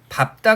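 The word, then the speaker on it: 밟다: 우리 밥다 같은 경우에 조심하셔야 됩니다. 정말 중요하죠. 나오면 이게 나오죠. 그래서 밥다 같은 경우에 어감 부분을 자음 앞에서 뭐로 발음해요? 밥으로 발음을 하고요.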